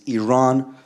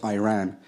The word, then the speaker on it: Iran: the Iranian people but you're pronouncing our country's name wrong a country is named Iran not Iran please once and for all let's get this